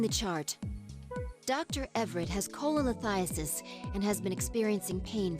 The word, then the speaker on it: Cholelithiasis: Cholelithiasis, that's how you say it, actually.